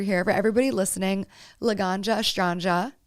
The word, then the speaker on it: Estranga: For everybody listening, Laganja Estranja. Astrange, right?